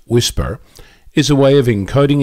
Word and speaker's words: WSPR: First of all, WSPR, pronounced whisper, is a way of encoding information and transmitting it across the spectrum.